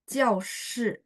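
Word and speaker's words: 教室: Jiaoshu, dia harus nada satu. Karena di sini sebagai kata kerja. Verb. Kalau verb, bacanya nada satu. Kalau nada empat, itu adalah kata benda. Saya coret di belakang aja ya. Jadi kalau dia nada empat, misalnya jiao, jiao shi, itu ruangan kelas.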